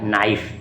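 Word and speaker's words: knife: English में देखते हो लिखते हो के नाइफ। माने छुरी चाकू और बोलते हो क्या? नाइफ। नाइफ बोलते हो इंग्लिश में यहां पर तो के साइलेंट हो गया।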